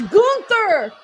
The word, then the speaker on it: Gunther: It's Gunther. We've all practiced really hard at pronunciating it like I that.